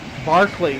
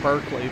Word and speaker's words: Berkeley: Berkeley. I keep saying Berkeley, but it's Berkeley. London by night. I'm in Berkeley Square. Yes, I know it's spelled Berkeley.